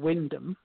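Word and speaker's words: Wymondham: ND h IM yeah the place name is actually spelled y mundum which is wy m om d h i am and that is a place in Norfolk called Windham even though it's spelt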